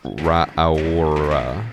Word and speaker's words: Raura: I can't remember exactly like what the emphasis is, but I think it's something like Ra'aura.